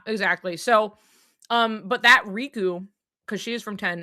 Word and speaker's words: Riku: So, um, and like in Japanese, they have like a slightly different pronunciation. Like the emphasis is a little different, but like to the English- speakaking audience, RKU is Riku. It's not It's not different.